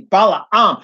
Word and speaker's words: Balaam: understand and let me say his name properly Bela um if you understand Bala um and what he did Bala on was paid